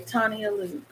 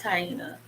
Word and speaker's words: Taina: you guard you okay tania luke okay tania luke what was your question oh i'm sorry i mispronounced your name it's taina taina luke what's your